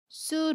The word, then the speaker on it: 수: 때 주의할 사항이 있는데요 을 일 뒤에 오는 수능 쑤 로 된 소리 로 발음합니다 예문 볼게요 매운 음식을